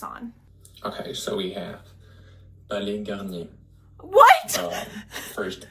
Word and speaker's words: Palais Garnier: Okay, so we have Palais Garnier. What? First S at the end of Palais should be silent, and Palais. the final Palais. R at Garnier as well. Garnier. Palais Garnier.